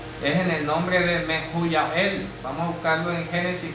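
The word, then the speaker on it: מחויאל: Mejuyá El, en hebreo. 4:18. Mejuyá El. Voy a escribir la pronunciación correcta.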